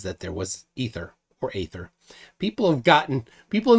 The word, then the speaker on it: aether: there was ether or Aether people have gotten people in the comments have said sometimes that that they think that it should be ether I usually pronounce it with a long a Aether it's spelled with the